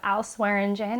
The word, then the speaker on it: Swearingen: name with him so if you've watched deadwood just think of al swearingen and you will know how to pronounce my last name otherwise when i was